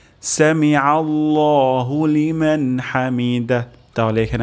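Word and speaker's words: سمع: আল্লাহ হয়ে যেতে পারে তাহলে এখানে আমরা আইন উচ্চারণ করব গলার মাঝখান থেকে সামি আল্লাহ সামি আল্লাহ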